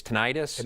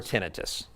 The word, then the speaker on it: tinnitus: is called it's well you can say it one of two ways it's it's tinnitus or tinnitus either one tinnitus or tinnitus or tinnitus